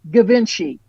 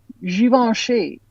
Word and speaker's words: Givenchy: Now it looks to me like Givenchy, but it's Givenchy. Givenchy.